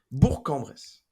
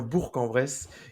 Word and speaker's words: Bourg-en-Bresse: Bourg-en-Bresse.